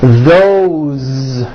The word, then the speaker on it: those: Those are my books.